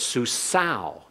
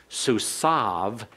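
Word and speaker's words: סוּסָיו: So it's susau in classical Hebrew, susav in modern Hebrew.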